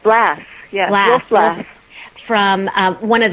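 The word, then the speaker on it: Blass: reading it was uh wolf blast or Bloss how do you say it from Australia that's right blast yes from um one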